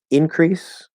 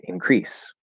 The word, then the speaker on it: increase: word um increase so this is a noun and a verb there's um increase and increase so there's a stress change okay now does that